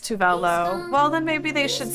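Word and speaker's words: Tove Lo: Pronounce Tovlo correctly. It's pronounced Tuvelo.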